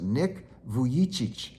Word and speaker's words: Nick Vujicic: it's spelled a little differently, so but it's pronounced Nick Vujicic.